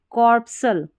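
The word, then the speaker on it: corpuscle: और इसको कॉर्पसल, कॉर्पसल ऐसे करके पढ़ना है, थोड़ी कठिन स्पेलिंग है, लेकिन देखिए यहाँ पर उच्चारण दे रखा है और इसमें भी हमारा C जो है वो साइलेंट है।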